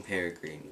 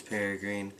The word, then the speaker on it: Peregrine: in all of my other videos i was pronouncing peregrine wrong i was saying pear green i wish it was peregrine but it's peregrine don't know why there's an